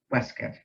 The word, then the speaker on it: waistcoat: a Brown Linen vest which he surely called a waistcoat and surely pronounced Westgate together he looked like